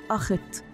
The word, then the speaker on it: اخت: اتون في الافق العلامه اللي على شكل شمس بتشرق بن تلين تتنطق اخت ومعناها افق وبقت عاصمه مصر هي اخت